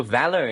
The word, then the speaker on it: VALR: So Valor, you know, as it's pronounced, it really stands for courage.